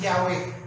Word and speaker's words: Yahweh: Sa Hebrew language, Yahweh yan, yung Y-H-W-H. Sinalin sa English, yun ang bigkas, Yahweh.